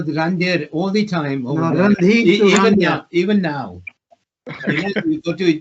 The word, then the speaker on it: Randhir: No, Randhir Even now. You go to Jaguar Land Rover, wherever you go, is it me? I'm a Randhir, not Randhir anymore.